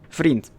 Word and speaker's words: vriend: I reckon, but either way, vriend. It's literally spelled like friend, but with a V instead of an F. Vriend.